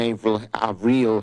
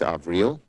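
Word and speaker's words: Avril: to Tony blinkin and ail AEL Haynes she corrected my pronunciation it's AAL uh President elect Biden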